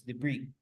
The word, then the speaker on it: debris: Se escribe debris, but it's debris.